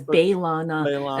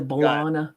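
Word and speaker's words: B'Elanna: of the fact that they changed how they pronounce belong his name it starts as balana and then eventually grows into bolana got it but overall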